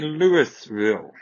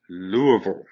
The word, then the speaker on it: Louisville: not say louisville okay we do not say lewisville that's not how we pronounce that repeat after me it is lou as then i'm going to the louvre uh vol louisville okay louisville it's real frustrating when